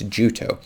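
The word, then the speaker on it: Jutoh: i use is juto i've pretty mispronounced in previous videos but somebody corrected it it's juto and the thing is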